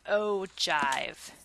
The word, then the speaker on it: ogive: something that's called an ogive okay it's pronounced oh okay and then jive jive with a J okay and when you